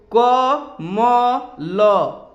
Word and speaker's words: कमल: उच्चारण कीजिए देखिए दोस्तों क म ल ये क्या बना कमल जब हम कमल कहते हैं तो ल के बाद अ नहीं आता है लेकिन क मल कमल